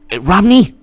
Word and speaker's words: Romney: mittens he wore mittens romney rhymes with schwamny romney romney mitt romney